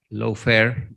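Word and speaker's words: lawfare: dicha palabra o término que se pronuncia low fair en inglés hace ilusión a la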